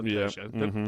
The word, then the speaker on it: Peugeot: Yeah, you know Pujo. It's not a Pooh.